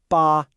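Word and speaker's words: 八: It's pronounced ba and again with a high flat tone.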